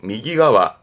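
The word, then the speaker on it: 右側: 발음은 그래서 미기가와, 미기가와.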